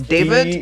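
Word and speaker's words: d4vd: His name is David, but it's spelled with a 4.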